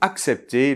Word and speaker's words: accepter: Attention dans la deuxième syllabe, le CEP, le E [ɛ] est ouvert, d’accord ? [ɛ] Un exemple : Il faut accepter la réalité.